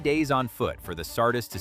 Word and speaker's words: Sardis: Herodotus describes a royal road running from Sardis, pronounced Sardis, in the west to Susa, pronounced Susa, deeper in the imperial core.